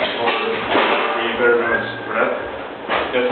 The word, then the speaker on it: Vreth: Doom on Doom here with the newest member of Finnroll, Matthias, or you better know as Vreth. That's how you pronounce it.